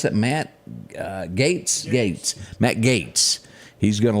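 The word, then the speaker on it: Gaetz: Matt you pronounce his G how do you pronounce that Matt gates gates Matt Gates he's going to lead the charge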